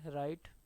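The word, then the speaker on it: write: where के is silent W आर से राइट डब्ल्यू आर आई टी E where W is silent G एन से नो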